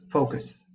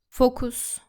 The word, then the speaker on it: focus: Be careful not to pronounce it like this. Focus. It should be focus. Focus. Now, the letters U and S in the word focus are similar to the word us.